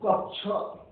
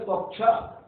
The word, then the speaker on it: कक्ष: 6 क्षत्रिय वाला 6 ये क और सा मिलके बनता है, क और सा, इसीलिए कहते हैं कक्ष। उच्चारण हम करते हैं कक्ष, कक्षा नहीं कहते, कक्ष।